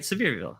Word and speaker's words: Sevierville: more honey flavor yeah um Donnie with the pronunciation he says it's it's from severe okay I'm right Sevierville I knew that I watch a couple of